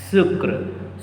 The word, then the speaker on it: sucre: Sucre.